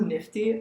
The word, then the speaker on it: NFTY: And he sent me this company that was interested in me, which is called NFTY. I think it's called pronounced Nifty.